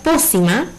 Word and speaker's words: pócima: Separamos po, si, ma. Tiene 3 sílabas. Ma es la última sílaba, si la penúltima sílaba y po la antepenúltima sílaba. Si nos fijamos, tiene una tilde gráfica. Significa que po es mi sílaba tónica y al ser el acento en la antepenúltima sílaba es una palabra esdrújula.